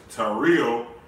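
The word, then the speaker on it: τηρέω: And the pronunciation is Tario.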